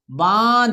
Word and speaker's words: बांध: बांध, ये ना से बोलोगे बांध।